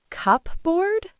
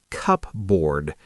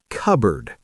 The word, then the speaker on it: cupboard: We don't say cupboard. The p and the o and the a are basically ignored. We say cupboard.